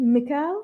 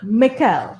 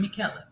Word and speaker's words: Michele: Is it Mikkel? That's right. Yeah, it's spelled like Michelle, though. Yes. Okay, but Mikkel. It's an Italian pronunciation, Michele. Mikkel.